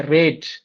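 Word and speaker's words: read: दुसऱ्याचं स्पेलिंग सुद्धा रीड आहे पण उच्चार रेड होतो, आणि याचं सुद्धा काय होतं, रेड होतो. रीड, रेड, रेड. स्पेलिंग एकच आहे तिन्हीचं, परंतु हे वर्ब 1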